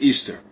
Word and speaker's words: Ishtar: after the spring equinox semiramis became known as ishtar which is pronounced easter and her moon egg